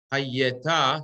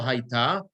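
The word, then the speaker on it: הָיְתָה: You see, it's haye, yeah, no hayta, but haye, yeah. It's the 2 squares under the yud. Alan, if you need to look at the other one. In your tikkun doesn't have that. Hayeta, that's right, and the accent is going to be under on the taf.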